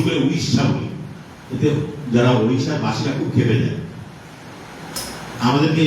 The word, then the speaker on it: ওড়িশা: সেটাই উচ্চারণ করতে হবে। আমরা উড়িষ্যা বলি।